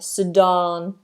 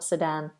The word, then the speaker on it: Sudan: let me check this it is Sudan long vowel sadon sadon sadon so not sadan um Surinam is above